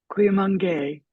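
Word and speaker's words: Cuyamungue: you have to tell me how do I pronounce this institute? Cuimangué.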